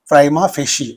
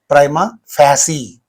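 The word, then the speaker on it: prima facie: Primma fishy or primma fasy. Two pronunciations are mentioned here.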